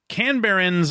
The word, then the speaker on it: Canberra: a Canberra Canberra Australia Canberrans are on average smarter than a lot of people wrote in with pronunciations that I think it's Canberra which I very deliberately